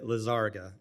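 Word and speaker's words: Lizárraga: I've got a little crisis of confidence since I've heard 4 or 5 different pronunciations. My name is Lisaraga. Lisaraga.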